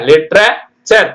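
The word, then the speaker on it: literature: பிக் sir picture L ஐ டி இ லிர லிட்ரேச்சர் லிட்ரேச்சர் லிட்ரேச்சர்னா இலக்கியம் சரிங்களா அடுத்து பாருங்க நேச்சர் நேச்சர்னா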